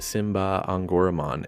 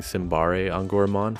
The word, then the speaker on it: Symbare Angoramon: new evolution we get simba on goromon interesting to hear this pronunciation because we had all been saying simbari on gourmand for months based on the karakana i had to